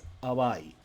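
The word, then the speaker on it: 淡い: Our first word of the day is awai.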